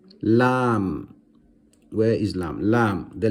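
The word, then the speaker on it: لام: Lam. Pronounce the letter lam and you will notice where your tongue is touching in your mouth.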